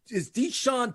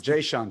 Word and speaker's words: Jayshawn: Is Deshaun Tate. Say that 5 times. Jayshawn Tate. Thank you. Jayshawn Tate with the J.